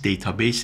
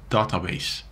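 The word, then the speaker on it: database: هستن حالا مخفف حالا تلفظ اصلی دیتابیس دیتابیس نیست دارا بیس هست میگن داتا بیس پس حالا ما اینجا میگیم دیتابیس مهم نیستش ولی خب تلفظ اصلیش داتا بیس هست حالا ما چند نوع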